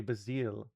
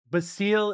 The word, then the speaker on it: Basil: There are two appropriate ways to say Bazil Basil. Basil is literally like the like the Byzantine pronunciation of it. Like I I'm I that's like the emperor Basil, not like the food.